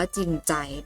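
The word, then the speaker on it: จริงใจ: จริง ใจ นะ คะ คำ นี้ อ่าน ว่า จริง ใจ เด็ด ๆ เห็น ว่า มี ทั้ง จอ จาน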